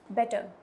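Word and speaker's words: better: अच्छा ये ध्यान रखना ये जो है be double T ई आर इसमें जो र ये आर साउंड है ना इसे प्रोनाउंस नहीं करोगे आप बेटर नहीं बोलोी वो नहीं होता ये होता है इट्स बेटर बेटर येय हो जाता है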